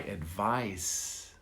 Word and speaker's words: advice: going to advise you you never take my advice i'm not going to advise you you never